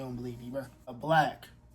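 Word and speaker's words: 6LACK: A Black. Not 6 Lack. Black. That's how it's pronounced.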